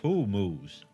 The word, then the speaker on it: hummus: I think it's pronounced who moose.